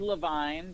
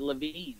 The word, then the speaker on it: Levine: Okay, so it is Levine. That is how my family pronounces it. I think that 99% of people pronounce it Levine.